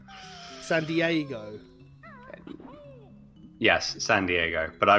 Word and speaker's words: San Diego: I'm joking it's in San Diago San Diego yes San Diego but I was saying it in Ron Burgundy's voice so you're saying San Diago well yes I am he did say it wrong so but I'm just